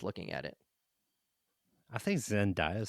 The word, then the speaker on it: Zendaya: Kind of the way Zendaya.